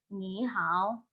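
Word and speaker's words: 你好: Setelah dimodulasi namanya, setelah dimodulasi nadanya akan dibaca menjadi ni hao. Sebelum dimodulasi, bacanya itu kayak gini. Ni hao.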